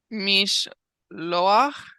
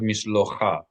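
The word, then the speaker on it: משלוח: Mish loach manos. Beautiful. Mishloach manoth. How did you know to read this as mishloach instead of mishlocha? Why didn't you say mishlocha?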